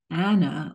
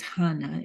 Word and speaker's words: Anna: chapter two we have Anna or which of course is the same name as Hana in Greek there's no strong H pronunciation and so all those